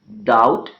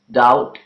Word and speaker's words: doubt: word all right similarly the letter B is silent in the words doubt and death doubt and dead okay and again the